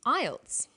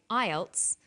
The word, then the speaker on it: IELTS: acronym with an acronym we don't pronounce the individual letters we pronounce it as a word so we say ielts not i e l